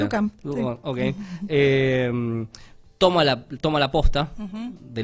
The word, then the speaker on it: Duchamp: Y a partir del capítulo 5, este físico que es Duchamp, ¿cómo se pronuncia? Duchamp.